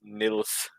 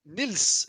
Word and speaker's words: Niels: the Danish pronunciation of Niels is Nils. Like, So that's exactly how you just if you want to say like without the e, it's Nils instead. Like you have no e sound.